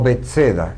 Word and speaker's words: Betsaida: orillas del mar de Galilea, que se llamaba Betsaida o Betseda, como se la pronuncia.